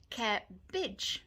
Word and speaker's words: cabbage: Cabbage, not cabbage. Cabbage.